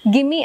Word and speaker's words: gimme: You can actually replace the words give me and let me into gimme and lemme. For example, gimme is spelled as G-I-M-M-E and lemme is spelled as L-E-M-M-E.